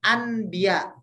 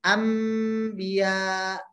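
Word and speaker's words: أنبياء: huruf mim ya sehingga kita bacanya bukan Andia Andia tapi kita bacanya Anbiya jadi m kira-kira seperti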